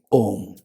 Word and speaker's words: Om: Likewise, A, U, Ma combined together is Om, not Okay, so this is Om.